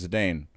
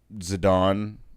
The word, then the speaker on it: Zidane: Ashley's favorite character is the Dane or zidane however you want to pronounce it I've read it several different ways but yeah zidane's awesome too